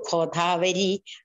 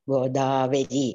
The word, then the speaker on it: Godavari: death ritual of Bali, when a pujari tells me, Narmatha Sindhu Kodavari, I'm disturbed. It has to be pronounced in the right way as Narmada, Sindhu, Godavari. It's all mrudus.